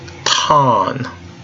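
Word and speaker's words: τόν: have the sounds here tau has a T sound - tau Omicron has a short o sound ah Omicron nu has kind of an in sound new put it all together hmm taun taun taun all right putting everything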